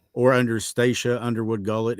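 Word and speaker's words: Stacia: on Facebook or just my name or under staa Underwood gullet it's spelled s a CIA okay everybody calls her stac well hell I call her Stacy but it's actually pronounced staa so uh at least that's what um I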